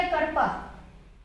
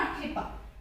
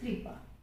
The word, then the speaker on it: कृपा: तो ये हो गया करपा, नॉट कृपा। दिस इज कॉल्ड री पा, दिस इज कृपा।